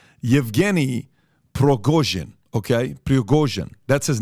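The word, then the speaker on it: Yevgeny Prigozhin: group is a guy named I want to pronounce this correctly yevgeny progojin okay that's his name Evgeni pregozian he's a billionaire it's like the black water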